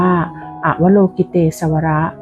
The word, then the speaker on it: อวโลกิเตศวร: อวโลกิเตศวร เป็น ภาษา สันสกฤต บาง ท่าน อาจ จะ อ่าน ว่า อวโลกิเต สว แต่ ทั้ง นี้ ทั้ง